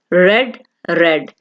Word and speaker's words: read: रीड, पढ़ना, रेड रेड। अच्छा, यहाँ पे रीड की सेकंड और थर्ड फॉर्म में स्पेलिंग सेम होंगे, READ, लेकिन इसको जो प्रोनाउंस किया जाएगा वो होगा रेड रेड, ठीक है।